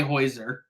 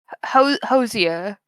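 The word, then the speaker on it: Hozier: I'll send you my favorite version of it because it's by Heuser. Hosier. Thank you. I always say it wrong.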